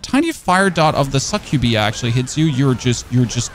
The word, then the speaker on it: Succubi: The Succubi, yeah, that's how you pronounce it.